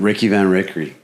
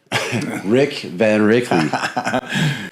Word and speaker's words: Rick Van Rickley: Um Ricky Van Ricky. Rick Van Rickley.